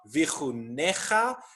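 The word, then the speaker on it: וִיחֻנֶּךָּ: And this word is pronounced vi-chu-ne-cha.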